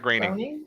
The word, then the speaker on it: Groening: And much like Matt Groening, how do you say it? Matt Groening.